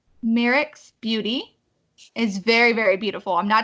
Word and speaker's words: Myricks: So the first part, Danessa, is Danessa, and then Myricks is Myricks.